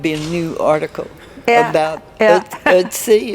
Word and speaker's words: Ötzi: Every once in a while there'd be a new article about Ötzi. Is that the way you pronounce it? Ötzi, yes. Ötzi.